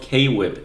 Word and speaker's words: K-Whip: social media persona of K-Whip in here. People mispronounce that as Quip all the time anyway, which is basically how it's pronounced in this, so it works.